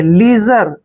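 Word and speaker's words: leisure: बहुत ही इंपॉर्टेंट है एल ई आई एस यू आर ई देखिए एल का उच्चारण हम ल करते हैं ई आई को हम ई की मात्रा पढ़ते हैं एस यू को हमने यहां पर ज पढ़ना है क्योंकि ज एस से पहले जब भी आई आता है तो एस को ज पढ़ते हैं और आर ई का उच्चारण र करेंगे लीजर लीजर लीजर मींस क्या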